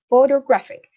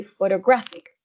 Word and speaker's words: photographic: a difficult word perhaps so you have photo photographic and then the stress would be in the third syllable in graphics so it would be photographic okay um number four